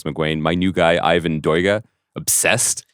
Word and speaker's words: Doig: Jim Crumley, Thomas McGuane, my new guy, Ivan Doiga, obsessed. How did you find out how to pronounce that?